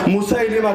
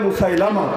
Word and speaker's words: মুসাইলিমা: হয়েছে ভন্ড নবুয়তের দাবিদার মুসাইলিমা কাজাব লোকে বলে মুসাইলামা সহি উচ্চারণ মুসাইলিমা সেই মুসাইলিমা কাজাবের কাছে